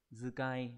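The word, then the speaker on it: 遣い: Chúng ta biết chữ này bình thường nếu mà nó không ghép thì nó sẽ đọc là tsukau đúng không? Hoặc là tsukai. Nhưng mà khi ghép với chữ tâm đằng trước sẽ đọc thành zukai.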